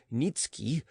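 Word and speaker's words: Niëtzky: a certain polish nobleman nikki pronounced nitsuki had obtained the special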